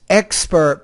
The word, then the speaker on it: expert: an expert an ex expert put stress on the first solal not the second so I will be